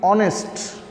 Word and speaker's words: honest: bengali letter hall but here we can we will not say it honest we have to uh read it honest so here aces the